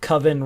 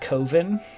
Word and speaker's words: coven: about the witches but he didn't like the fact that coven rhyme with oven so he called it covin that's American movie American